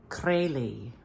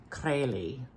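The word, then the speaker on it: Krejlee: and then I said how do you pronounce this and he said crazy so there's like a bit of a roll to the r crazy and I heard that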